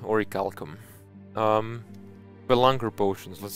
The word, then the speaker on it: orichalcum: gather what we had oricalcum right that's how you actually pronounce it origalcom um the longer potions